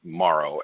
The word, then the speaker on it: Morrow: A lot of people like to spell it like bone marrow, but it's Morrow, MORROW.